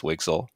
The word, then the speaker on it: WGSL: a new shading language wgsl which we pronounce wixel wixel is being defined in